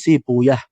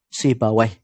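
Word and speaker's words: Sibawayh: si baweh ya penyebutan tapi kalau menurut Ahlul hadits shibuyah itu kalau menurut ulama-ulama ahli hadisnya sedangkan ulama ahli fiqih para fuqoha membacanya dengan si baweh ashabihi ini yang benar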